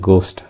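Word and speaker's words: Geist: இப்போ பார்க்க போகிற பிக்சர்ஸ் பார்த்திங்கன்னா த வயலின், த கிட்டார், த கோஸ்ட். இதை வந்து ஜெர்மனில் எப்படி ப்ரொனவுன்ஸ் பண்ணுறதுன்னு சொல்கிறேன். தி காய்கர், வயலின் வந்து டி காய்கர், கிட்டார் வந்து டி கிட்டார், கோஸ்ட் வந்து டி கைஸ்ட்.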